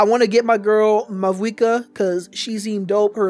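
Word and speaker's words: Mavuika: wishes for my girl, Mavwika. I think that's how you're supposed to say her name, Mavwika.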